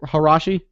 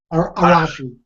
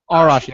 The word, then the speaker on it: Arashi: Harashi? Arashi. Arashi. I got to be working on my pronunciation.